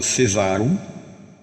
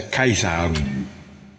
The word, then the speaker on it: Caesarum: De põe assim aquele C-A-E, que algumas menções, né, algumas referências falam Cesarum, mas é Caesarum.